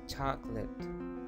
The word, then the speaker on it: chocolate: and speak like this chocolate just put stress over the first vowel cholate chocolate vegetable catly now here